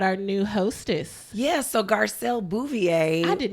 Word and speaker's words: Garcelle Beauvais: Yeah, so Garcelle Beauvais. I did not know that's how you pronounce her name.